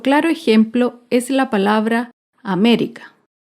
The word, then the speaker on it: América: Otro claro ejemplo es la palabra América. América se acentúa en la antepenúltima sílaba. América.